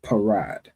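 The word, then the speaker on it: פרד: So of course you have the pa, ra, and a da. The pa is pronounced individually, and then the ra and da will be connected. All right, so that will make the word parad.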